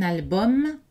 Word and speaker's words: album: Donc, aucun de ces mots n'est prononcé avec une voyelle nasale. Ce sont des voyelles orales. Un album, un abdomen, un tandem, le maximum, le minimum, l'aluminium.